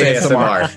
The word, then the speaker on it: Aasimar: It's pronounced ASMR. ASMR procurer.